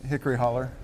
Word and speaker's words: Hickory Hollow: Hickory Hollow barbecue or as I referred to it when I first heard you were coming in hickory holler Tony which is a the pronunciation that you prefer we prefer hickory holler that's Hickory on the